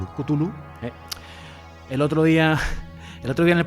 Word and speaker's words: Cthulhu: Pues es que es impronunciable realmente. O sea, era una de las premisas que tenía Lovecraft para que algo realmente pareciese de fuera del mundo, ¿no? Que los nombres de las criaturas fueran realmente muy difíciles de pronunciar. Yo creo que nos podemos quedar con Cthulhu.